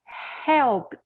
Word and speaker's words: helped: sound at the end, we don't add an extra syllable. So we don't have the E pronounced. Helped. Forget the E, helped.